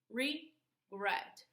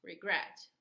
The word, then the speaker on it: regret: Regret. We have a two-syllable word, and the stress is gret. Regret. We don't say regret. We say regret. So this is the stress, okay?